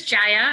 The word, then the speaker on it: Jaya: I'm gonna move to Gaea am I saying your your name right if you want to go ahead sorry about that sorry my name is Jaya I'm used to miss